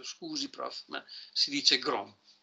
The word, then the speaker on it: Gram: si chiama matrice di grom Eh non ho detto a Patrizio che eh si scrive gram ma si legge Grom come m'ha detto un mio studente che conosceva il Danese a ingegneria si trova